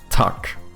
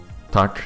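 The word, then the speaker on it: tak: The worst thing in Polish is that when you guys say yes, you say tuck, right? Or tuck. Tuck. Something like that.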